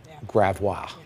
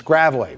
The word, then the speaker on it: Gravois: There's a lot of people advertising for cases that are never here, and they would pronounce it gravois. Yeah. It's gravelly.